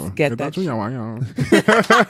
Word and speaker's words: Getachew: Getachew. Some in Japanese almost. It's Getachew.